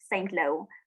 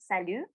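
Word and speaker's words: Saint-Lô: salu they say but if you read it in english it just says saint lo but it's pronounced salu and that was my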